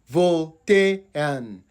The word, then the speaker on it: Voltaian: So the first syllable is Voltaian, Voltaian. So we have VOL, that is Vol, TAY, that is Tay, and UN is an. So the UN is pronounced an. So it is Voltaian.